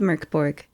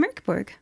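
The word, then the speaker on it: Mörk Borg: Today, we are playing using the combat mechanics from a game called Mork Borg, which the rulebook spells as M-O-R-K and encourages English speakers to pronounce as M-U-R-K.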